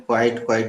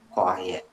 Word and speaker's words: quiet: तुम लोग अगर नहीं समझ पाए तो समझ लो, इसके उच्चारण में अधिकतर लोग गलती करते हैं, क्वाइट क्वाइट बोल देते हैं, इसलिए हम ये अभ्यास करा रहे हैं।